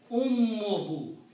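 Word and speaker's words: أمه: So when you combine ummun and hu, the pronunciation will be one dhamma here. Ummuhu.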